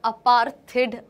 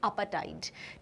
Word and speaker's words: apartheid: ये अपार्थिड, अपार्थाइड, कुछ गलत बोलते हैं, बट इसका जो अमेरिकन प्रोनाउंसिएशन है बिल्कुल करेक्ट, दैट इज अपाटाइड।